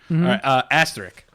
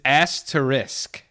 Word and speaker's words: asterisk: we go Asha Connery asterik asterik yeah I say asterik ash trick ya ass trick it's asked to risk oh I don't say